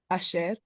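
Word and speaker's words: אשר: And then say the syllable. Sher. Good. Say the whole word. Asher.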